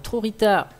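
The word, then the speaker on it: Trojitá: Trorita, donc Trorita, on le prononce à l'espagnol, Trorita, c'est un Courrieler, ici, donc vous voyez.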